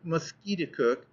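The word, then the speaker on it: Musketaquid: meaning of the word muset cook the Indian name of conquered River he pronounced it mosquit cook emphasizing the second syllable with a peculiar guttural sound and said that it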